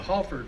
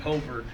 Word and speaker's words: Halford: Hello, I'm a descendant of the Halford family. You may know of Halford Road and Halford Park. Some people pronounce it Holford, but that's not the way we pronounced it.